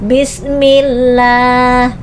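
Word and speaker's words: بسم الله: Maka hukum bacaannya dibacanya tipis, jangan tebal. Kenapa? Karena berbaris di bawah. Hukum bacaannya adalah lam tarkik. Tarkik artinya tipis. Bismillah.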